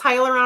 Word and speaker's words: hyaluronic: It's hyaluronic acid.